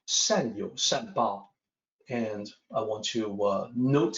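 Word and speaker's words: 善有善报: First of all, the pronunciation, 善有善报. And I want to note here that the YOU in pinyin, that looks like you, but it's actually yo in pinyin.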